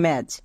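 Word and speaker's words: match: মনে থাকবে, শব্দের শেষে যদি চো থাকে তার জন্য আমরা টিসিএইচ ইউজ করব। এখানে টি সাইলেন্ট।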